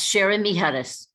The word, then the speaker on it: Sharon Miharis: I'm also very pleased to have Professor Sharon Miharis. Am I pronouncing that correctly? Yes, Sharon Miharis.